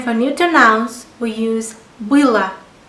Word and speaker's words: было: And for neuter nouns we use было. There is O letter in the ending, but it is pronounced like A, было, because I is stressed.